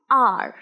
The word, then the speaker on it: hour: আওয়ার মানে যেটা ঘন্টা, তার উচ্চারণ কিন্তু আওয়ার হবে না। কি হবে? আর, আর, HOUR, আর।